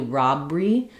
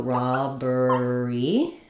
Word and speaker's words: robbery: beginning of class, interest, we do keep all syllables here. So I don't really do robbery. I have to keep that in there so I have all three syllables. So robbery.